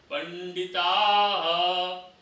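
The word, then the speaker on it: पण्डिताः: ऐसे ऊ, नानुशोचन्ति पंडिताः, पंडिताः पीछे जो दो बिंदी है उसको ह का उच्चारण होता है।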